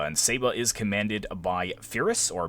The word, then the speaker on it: Pyrrhus: The next army we'll take a look at is Saba, and Saba is commanded by Pyrrhus, or Pyrrhus, depending on how you want to pronounce it, and he's spread out pretty much